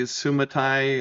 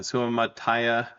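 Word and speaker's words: Suamataia: We've got Kingsley Sumati. I'm mispronouncing that. Sumataya.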